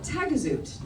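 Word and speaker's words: Taghazout: I worked at a yoga surf retreat in a little town called Tagazout. Now that is the English pronunciation.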